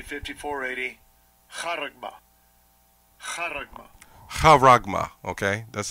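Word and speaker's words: χάραγμα: Karagma. Karagma. Karagma, okay. That's how it's pronounced.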